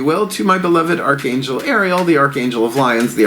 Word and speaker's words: Ariel: to do still a point my beloved Archangel Ariel correct pronunciation beloved Archangel of nature Archangel of lions